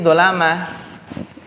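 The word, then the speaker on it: ظلمة: Warid'id dholamati, ya bacanya ini dolamah. Kenapa? Karena dolamah itu jamak dari apa? Dolim. Dolamah itu jamak dari dolim, orang-orang dolim.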